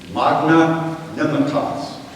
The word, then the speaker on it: Magnanimitas: I noticed a word, 12 letters, 5 syllables, from a dead language. Magna Nimitas.